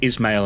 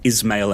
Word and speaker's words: Ismail: So I'd been pronouncing it Ismail and Ishak. And although there's several variants of the name from sort of similar countries in the region, apparently it should be Ismail and Ishak.